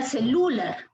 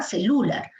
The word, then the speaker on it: celular: Si fuera Lu, sería celular. Mañana me voy a comprar un celular nuevo. No es, ¿no? No es esa la pronunciación, ¿verdad? Celular. Es celular. Ahí se nota la pronunciación, celular. Se nota allí la presencia del acento en la sílaba lar.